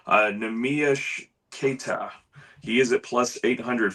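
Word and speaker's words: Neemias Queta: And I've I've pulled up how to pronounce his name so I don't butcher it, but it's Nami Keta.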